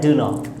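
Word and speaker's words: dunno: तो शॉर्ट में don't नो को भी हम लोग और शॉर्ट में लेके जाए तो बन जाता है डू नो, okay, I डू नो, इस तरीके सेंटेंस बना सकते हैं।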